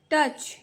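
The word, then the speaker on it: touch: hold सी asked ओसांगला टच ये spelling है टच का ट च ड यहां ओ यू जो है साइलेंट रहता है टच्ड ओसांगला टच्ड इट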